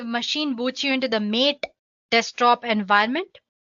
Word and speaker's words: MATE: As you can see, the machine boots you into the mate desktop environment. Let me pronounce it mat. You can call it whatever you want.